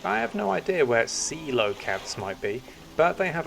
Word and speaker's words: coelacanth: Coelacanth, not whatever I was saying. Coelacanth. Okay. Actually, I have no idea where coelacanths might be, but they have a primordial feel to them, don't you think?